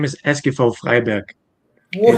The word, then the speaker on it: Freiberg: The name is Eskifo Freiberg. What? It's I don't know. it's tough. I It's don't know tough. how to pronounce that. It's similar to Freiburg, the team in Bundesliga, but it's Freiberg.